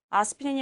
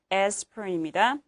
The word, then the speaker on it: aspirin: 발음도요. 아스피린이 아니라 aspirin입니다.